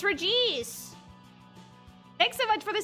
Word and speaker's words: Regice: Oh, wait, the TTS pronounces it wrong. It's Regice.